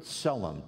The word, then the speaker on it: tselem: The word that's used there, it's a Hebrew word, tselem, T-S-E-L-E-M is the way you might spell it out in English.